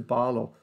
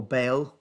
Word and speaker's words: Baal: He set up an altar to Baal, or Baal, depending on how you pronounce it.